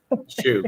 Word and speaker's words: Hsu: I think I've pronounced it 4 different ways. Hsu, perfect.